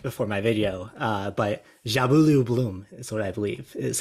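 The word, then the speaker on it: Njabulo Blom: um I saw someone tweet out how to pronounce this and I've forgotten nabula blah it's not even close Justin you want to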